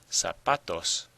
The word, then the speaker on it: zapatos: Zapatos. Zapatos. Well, you probably hear that the stress is on the pa.